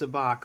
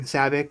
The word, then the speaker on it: sabacc: Uh, I know it's pronounced sabach, but I I wanted to it's just kind